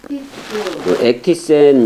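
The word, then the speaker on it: ἔκτισεν: "ktizo", "ektisen" 이라 고 발음 하는 게 맞아 요 .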